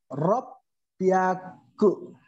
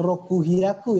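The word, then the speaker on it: 六百: 600 rob pyaku. Ya, double P ya, rob pyaku, bukan roku hyaku ya, tetapi rob pyaku.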